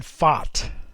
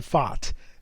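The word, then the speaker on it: Pfaadt: him hold up for a second okay brandon fought that's how he pronounced his name i just quickly went back to the interview i saw of him to make sure i'm pronouncing it around brandon fought that's p-f-a-a-d-t uh he's a right-handed pitcher with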